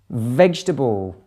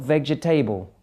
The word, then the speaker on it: vegetable: of the word photographer vegetable vegetable not vegetable okay not yeah any